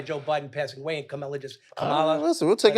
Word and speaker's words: Kamala: want it to come by Joe Biden passing away and Kamala.